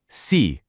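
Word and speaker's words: sí: Notice the little accent mark over the I in the Spanish word for yes. That tiny mark actually dictates the vocal emphasis. Let's try them out. Yes. C.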